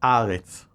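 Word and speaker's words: הָאָרֶץ: The two are pronounced only marginally differently, Eretz versus Aretz, and they are actually two forms of the same word.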